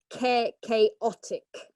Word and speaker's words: chaotic: Okay, how do we pronounce the CH in this case? Okay, very good. Yeah, so it's chaotic.